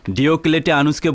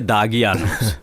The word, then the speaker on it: ডিওলেটি আনুস: এখনো সঠিক উচ্চারণ করতে পারে না। ডিওলেটি আনুসকে বলে দাগি আনুস।